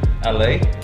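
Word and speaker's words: Alait: It's called LA. That's how it's pronounced, A-L-A-I-T.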